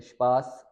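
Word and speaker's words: Spaß: पी का rule है, एस के बाद अगर टी आ जाए या फिर पी आ जाए, इन दोनों को हमने शीन से पढ़ना होता है एस को, और वही रूल यहाँ पे भी है कि अगर वर्ड के शुरू में हो तो जैसे स्पास, स्पील, स्पोर्ट, स्पीगल। अब स्पास कहते हैं फन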